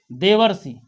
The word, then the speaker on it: देवर्षि: अगला शब्द है देवर्षि। देखिए देवर्षि मत कहिए, देवर के समान नहीं, देवधन ऋषि, यानी ये बनेगा देवधन ऋषि, यानी बना देवर्षि।